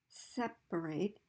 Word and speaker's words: separate: for example just uh the verb to separate has primary stress on the first syllable separate and a secondary stress on the last syllable eight separate okay although syllables with